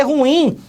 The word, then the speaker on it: ruim: mesma coisa e marcelo deu ruim nunca mais você fala assim meu querido ruim não dá é ruim deu ruim a última sílaba que é mais forte